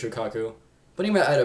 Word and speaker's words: Shukaku: Shukaku, the One Tails, I might pronounce the name wrong, but I'm pretty sure it's Shukaku.